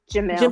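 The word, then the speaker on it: Jemele Hill: So, what what I'm going to say is that um so I listen to is it Jamila Hill? Is that how you say her name? Jamal Hill.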